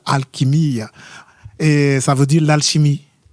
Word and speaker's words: Alquimia: Alquimia. Voilà. Prononcé correctement en portugais, c'est ça. Alquimia.